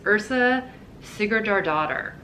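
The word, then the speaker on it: Yrsa Sigurðardóttir: back in her bio there's a pronunciation so it says ursa sigurdjar daughter and this is a terrifying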